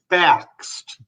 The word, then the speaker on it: Bakst: His name is, and I should have asked him how to pronounce his last name, but I'm going to try Bakst. Is that right? Close, but it's Bakst.